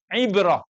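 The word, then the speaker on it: عبرة: Karena salah pengucapannya hal indakum ibrah, salah dari ain ke hamzah, dikeluarin tuh jarumnya.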